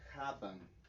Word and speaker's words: haben: indica que tal cual el stress viene en la primera sílaba. Y en este caso, esta palabra es una palabra de 2 sílabas. Entonces el stress, digamos, la pronunciación sería directamente en esta parte, en el ha.